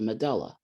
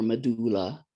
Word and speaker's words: medulla: That's different than this inner area that's a little darker, called the medulla or medulla. People pronounce it differently.